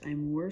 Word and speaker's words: Aimor: This looks like a photo frame that, yes, it's the AIMOR, I think it's pronounced Imore Smart Photo Frame comes with this.